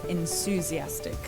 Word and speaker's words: enthusiastic: you would never say th like this. So to say enthusiastic, so it's enthusiastic. Say, Kind of mistake. yeah, that's how you say it.